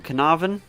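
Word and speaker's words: Caernarfon: to be flying from carnarvon in wheels i think that's how you pronounce it is it's welsh so i'm not welsh trying me best to pronounce it up to blackpool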